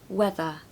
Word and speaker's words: weather: as the other point the ER on the end of under and whether is going to be a schwa sound so under weather not under and whether